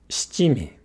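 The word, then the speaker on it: 七味: Shichimi. Not shi. Shichimi.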